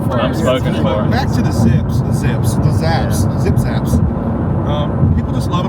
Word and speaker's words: Zapp's: Do you spell it zonks? What is it called? Zapp's. Zapp's.